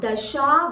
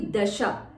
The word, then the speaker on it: Dasha: So it is not Dasha Vaktra, it should be Dasha.